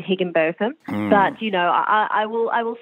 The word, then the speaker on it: Higginbotham: Well, Tegan Higginbotham. Now, I pronounce that a way that I believe you prefer, but it is some people say Higginbotham.